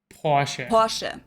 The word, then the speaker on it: Porsche: So there's like this short E sound in the end. Porsche.